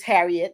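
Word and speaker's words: Harriott: calling it Harriet but it's it's spelled h-a-r-r-i-o-t-t but it's Harriet that's what they were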